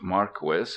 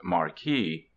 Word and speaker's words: Marquis: It is pronounced Marquis, not Marquee.